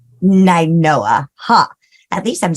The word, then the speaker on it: Nainoa: Am I pronouncing that right? It's Ninoa. Ninoa, huh?